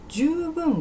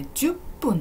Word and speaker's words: 十分: 方もちょっと難しい十分はこれ 10 分じゃないですよ 10 分じゃなくて読むとき十分ですこういうふうに十分ではないと書いてあったらこれあの名詞の意味と考えて読み方は 10 分じゃなくて十分になりますねそっかこの